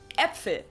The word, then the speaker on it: Äpfel: Like, Sometimes we pronounce it a little bit like shorter a though, plant. so instead of like in Äpfel, which means Äpfel. apples in plural, Äpfel. or Hände, which means hands. Hände.